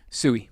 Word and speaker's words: Suhy: Now, Ray, how do you pronounce Ray's last name? Suhi? Sui. Sui. Okay. Now, for anyone out there, I think. so that's what I mean. You know, I phonetically it's like Suhi, I guess.